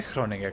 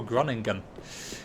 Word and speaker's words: Groningen: Yeah, Groningen is a fun place to try and pronounce, especially if you're English, because English people can't say Groningen, because look at it and go, oh, Groningen. No, it's not Groningen, it's Groningen.